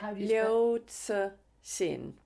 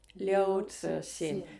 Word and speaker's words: Liu Cixin: How do you Liu Cixin. Liu Cixin, mainly translated.